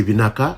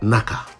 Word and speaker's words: vinaka: Fijians are very friendly and helpful, so remember to say vinaka after being served of any food, drinks, or if someone offers you help. Sometimes it is shortened to what sounds like naka.